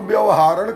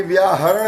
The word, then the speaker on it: व्याहरण: आप हम तो व्यवहारण समझते, व्यवहारण नहीं है ये व्याहरण है। वी और आहरण जोड़ के व्याहरण बोला।